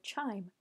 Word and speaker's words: QIIME: the other one exploring the terminal interface of CHIME.